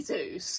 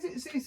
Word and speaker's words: Zeus: I mean, it has to be Zeus. Zeus or Zeus. Either's fine. You're just pronouncing the u more.